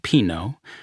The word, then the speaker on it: Pino: But then I learned that Pino, pronounced Pino, was still alive some six decades later and back in Italy after nearly 30 years in Beverly Hills and Mammoth Lakes, California.